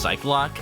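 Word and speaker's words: Psyche-Lock: attorney fandom has pretty much concluded that it's pronounced psych lock but when you look at the games and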